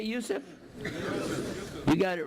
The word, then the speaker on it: Yusuf: is youssef my name is can you say youssef you got it right on the first time all these years my wife still pronounces it useless the trinity is not mentioned in the bible